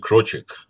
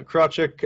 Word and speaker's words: Krawczyk: name yes yes correct so it is pronounced crochet right yeah yeah crotchet uh i saw in